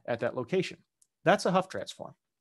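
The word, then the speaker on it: Hough transform: do that is uh a huff transform hoe transform transform i you'll hear a thousand different pronunciations i'll say huff transform here i usually say ho transform because that's what i weirdly always heard it a long time ago which is wrong but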